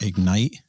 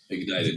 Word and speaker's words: Ignited: I think I'm pronouncing it Ignite properly. Ignited, yeah. Ignited.